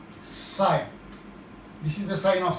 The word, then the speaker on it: psi: This water potential is represented by a Greek letter psi. This is the sign of psi. PSI, psi. P is silent.